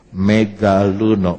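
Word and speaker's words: μεγαλύνω: Sama-sama. Megaluno. Persis ejaannya seperti bahasa Indonesia.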